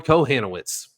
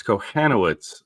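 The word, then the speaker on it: Kochanowicz: And Angels are throwing Cohanits. Drew, any Cohanit thoughts today? We can say it correctly now. It's Cohanoitz.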